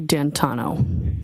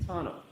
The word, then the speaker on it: D'Antuono: And when you went outside, you learned that he had come and his friend, is it Ricky D'Antuono? How do you pronounce the name? It's Ricky D'Antano. D'Antano.